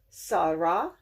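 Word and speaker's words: שרה: This has the dot over the left end, so it's not a sheen, it's a seen. Sa sound, not sha. Sa, ah, ra. Sarah. And I said this is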